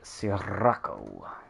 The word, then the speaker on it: Sirocco: Alright, here's the Sirocco. Fun word to say. I don't think you need to roll your R's, though.